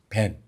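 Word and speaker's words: בן: 히브리어로 아들은 벤이라고 읽습니다. 벤.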